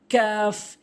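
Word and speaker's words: كاف: জিহ্বার গোড়া হতে একটু আগে বাড়াবেন, তারপরে ওই অংশটা উপরের তালুর সঙ্গে লাগাবেন, কাফ কাফ সঠিক উচ্চারণ, কাফ।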